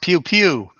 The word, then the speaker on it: PWPW: It's pronounced pew pew.